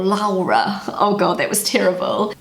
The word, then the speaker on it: Laura: And in Germany the name Laura is pronounced Laura. So one more time. Laura. Native English speakers have the hardest time pronouncing this name correctly in German because it has that little guttural sound in the middle, Laura.